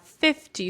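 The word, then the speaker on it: fifty: have to pay attention where the stress falls. For example, if we have 15, so the stress is on teen, and we have 50, so the stress is on fifth here.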